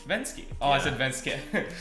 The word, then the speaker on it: Venzke: then no svenska no it's given actually pronounced been ski been ski oh I should been scared in